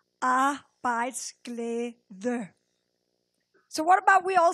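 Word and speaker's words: arbejdsglæde: but in Danish it's I actually helped you how to pronounce it here a bites GL so what about we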